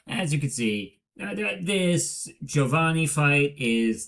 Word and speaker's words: Giovanni: You may have heard I say Giovanni, not Giovanni. That's because from what I've heard from my aunt who spent a great deal of time in Italy, that is the proper Italian pronunciation.